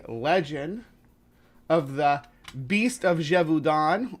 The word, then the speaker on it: Gévaudan: of the Beast of Jevon or pronounced in the French it's leet D jeevon yeah I practice my